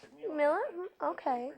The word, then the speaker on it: Mueller: it's spelled M-U-E-L-L-E-R. And it's pronounced Miller. Yeah. Huh. My grandfather always said that the U-E in German is the same as the I in English.